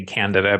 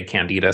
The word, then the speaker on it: Candida: yeast and Canada and I'm gonna say Canada because my understanding from many of my mentors is that is how it's said but I know many people say candida so tomato whatever whatever